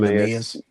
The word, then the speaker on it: Neemias: Neemias, right? Am I saying that Oh correctly? yeah, His first name Neemias.